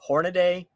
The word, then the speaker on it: Hornady: under my skin is when people call Hornady horn a day it's like there's no freaking a at the